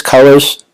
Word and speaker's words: Cullors: It's spelled Cullors. I believe it's Colors. I'm not certain of it.